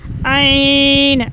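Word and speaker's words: ع: तो अब हम पढ़ेंगे आइन, आइन। आइन को हमने हलक के दरमियान से, आइन इज़ the pronounced from the middle of the throat, ठीक है। इसको हमने आइन को मिडल थ्रोट से अदा करना है।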